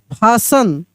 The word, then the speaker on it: fasten: FASTEN, क्या पढ़ेंगे, फासन, फासन।